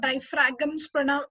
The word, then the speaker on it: diaphragm: Okay, इसको diaphragms pronounce नहीं करना है. The G is silent over there. It is diaphragm.